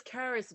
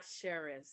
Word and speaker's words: Karis: It's Karis, by the way, not Cheris. Yes. I always tell people, like, phonetically, it looks like Charis, Charisse, all of that.